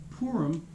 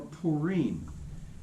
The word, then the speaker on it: Purim: feast of purim and it's purim or purim if you really want to be a rookie if you read it it's p-u-r-i-m you you say purim jews are really that's